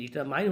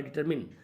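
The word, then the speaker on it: determine: डिटरमाइन का मतलब होता है, देखिए डिटरमाइन हम पढ़ते हैं लेकिन शुद्ध उच्चारण है डिटरमिन।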